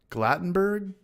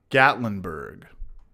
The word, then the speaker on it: Gatlinburg: tennessee that's a half an hour from me glattenberg i'm saying it wrong tennessee how do you spell it uh gatlinburg gatlinburg beer cross nations yeah i want to